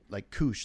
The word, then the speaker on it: Kush: Hopefully, I think Kush like Koosh, like the Koosh balls.